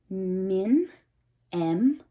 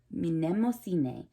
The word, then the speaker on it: Mnemosyne: Mnemosyne. Mnemosyne.